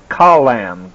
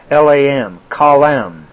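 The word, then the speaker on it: חלם: say, in verse 12, is translated from the Hebrew word C-H-A-L-A-M, but is pronounced Kalam, K-H-A-W-L-A-M, Kalam.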